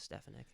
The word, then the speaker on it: Stefanik: Can you pronounce her name? Stefanik? I guess Stefanik. Oh man. Yeah, that's Stefanik.